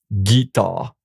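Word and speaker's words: guitare: So, and also you see guitar the it's followed by the e here, but there's a u before the u make it transform the g into a hard g guitar.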